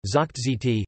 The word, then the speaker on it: זאָגט: Moreover, Yiddish has regressive voicing assimilation, so that, for example, zakht says, is pronounced zikt, and hq, hoch dm, forward, is pronounced ha dm.